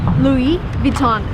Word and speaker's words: Louis Vuitton: of the shop is Louis Vuitton again everything is French come on so everything needs to be pronounced in a French way if you want to